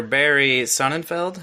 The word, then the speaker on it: Barry Sonnenfeld: The good news is that the director, Barry Sonnenfeld, is that how you pronounce his name?